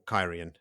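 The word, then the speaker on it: Cairhien: And Rand tells them all about Celine when they meet up in Kehain again. Or Kyrian. Sorry, it's been a while since we were in that city, so I reverted to my old pronunciation.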